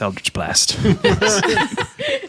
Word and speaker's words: Eldritch: it ends in Blast it's Elder blast it rhymes with dildridge all right so here's